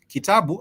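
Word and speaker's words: kitabu: sounds for example kabu kabu I was saying a little bit earlier on kabu simply is a book but you'll have it having three different uh syllables K T bu K T bu and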